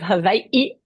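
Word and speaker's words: Hawaiʻi: the University of Hawaii Manoa correct did I pronounce that Kish yeah University of Havi at Manoa but yeah I struggle with English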